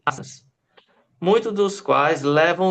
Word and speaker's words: asanas: Pronuncia-se asanas, muitos dos quais levam o nome dos animais que os inspiraram.